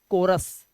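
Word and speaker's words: chorus: sound ऐसे ही सीच इसे चोरस नहीं पढ़ेंगे इसे पढ़ेंगे कोरस क्या पढ़ते हैं कोरस कोरस पढ़ते हैं इसको ठीक है इसी तरह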